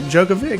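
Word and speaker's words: Djokovic: Uh first off, Wimbledon News at Wimbledon Jenn to the semi-finals with a win over American Ben Shelton and Novak Jookovic.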